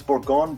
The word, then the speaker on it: Bourgogne: It's Bourgogne, Bourgogne. I mean, it doesn't really matter how you pronounce it.